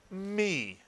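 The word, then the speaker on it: מי: This is the word we've just read as a syllable. It is me, exactly right.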